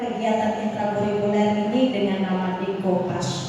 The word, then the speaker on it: decoupage: Nah, jadi walaupun itu tulisannya kalau dibaca secara Inggris Decopage, tapi sebenarnya ini adalah asalnya itu dari Prancis. Makanya kita harus membacanya Decoupage, bukan Decopage ya Ibu.